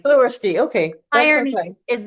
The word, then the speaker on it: Sliwerski: I know it's phonetic. It's Sliwerski. Sliwerski.